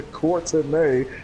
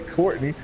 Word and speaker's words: Courtenay: I don't know, but she will correct you if you say Courtney. You're like, it's pronounced Courtenay.